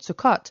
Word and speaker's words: Sukkot: to the jewish harvest festival sukkot are told sukhot is a holiday that almost immediately follows yom